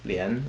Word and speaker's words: 莲: It's pronounced lian, like lian hua.